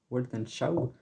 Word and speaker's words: Weltanschauung: Les inspirations, donc le premier morceau qui est je sais pas comment le prononcer. Weltan Shaug. Weltanschauung.